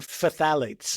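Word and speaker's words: phthalate: You want to check for parabens and fthalates again because many skincare shampoo and cosmetic products contain these hormone disrupting chemicals.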